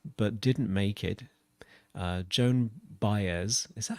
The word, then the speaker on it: Baez: with Patti LaBelle but didn't make it Joan Baez is that how you pronounce that name is yes yeah not a